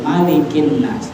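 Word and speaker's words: مَلِكِ النَّاسِ: Qul a'udzu birabbin nas malikin nas. Jadi jangan dibaca panjang, langsung malikin nas.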